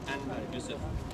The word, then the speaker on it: Anwar Yusuf: For instance, my name is Anwar Yusuf in my Turkic language. That's how I pronounce it.